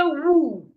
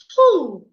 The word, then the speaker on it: who: this word wh and this word the W is silent when you have letter O after W the W will be silent so you should not say woo please say who who are you not who are you it's who are